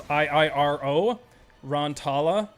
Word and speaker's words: Iiro Rantala: It's Iiro Rantala.